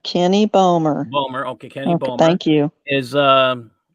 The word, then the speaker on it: Balmer: the chat room is it's balmer it's pronounced kenny bowmer okay thank you is